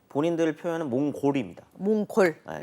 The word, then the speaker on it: 몽골: 이제 최고의 우두머리랑 몽골 몽골로 불러주는게 맞아요 몽고는 중국 사람들이 그 발음이 안 돼요 한자로 바꿀 때 몸 고로 바꿔 가지고 몽골 일이 자신들이 부르는 이름이니까 그렇게 불러요 근데 몽골이 징기스칸에 의해서